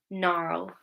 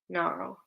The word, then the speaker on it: gnarl: Okay, so if we have GN, the G can be silent. Design. Good. Okay, let's do the next one. Oh, look. It's the same rule. So, which letter is silent? I'll say the word for you, and it's going to be very obvious. Gnarl. Gnarl. Yeah, well done everyone. It's again letter G and it's the same rule, okay? Same rule, GN, G is silent.